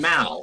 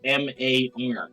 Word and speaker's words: Mar: Hey, why are you saying Mal? It's M. H. You keep saying Mal, but it's pronounc it's spelled M A R.